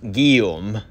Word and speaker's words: Guillaume: Just a note, you pronounced the surname wrong. It's actually pronounced Guillaume.